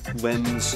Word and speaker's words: limbs: For example, limbs and death intersect each other with a silent B, or a line and right intersect with a silent G.